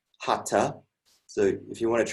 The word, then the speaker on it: hatha: the word hatha hatha it looks like hatha it's actually pronounced hata so if you want